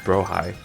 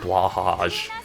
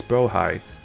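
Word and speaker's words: Blåhaj: Um which tech I found out a long time ago that um it's actually pronounced Brohigh. I know people like to pronounce it like blahage because that's what it looks like it pronounced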